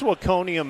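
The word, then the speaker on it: Waconia: So where's Wakonia Minnesota?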